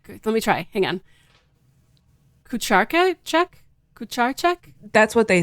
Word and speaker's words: Kucharczyk: Kucharczyk? That's what they say. Yep, that's exactly what they say. That was an American would say. Yeah, but like in Polish, it's Kucharczyk.